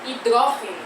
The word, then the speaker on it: hidrógeno: No espanhol não existe o acento circunflexo e a gente vai falar hidrógeno. Então a sílaba tônica não está no G, mas agora está no DRO.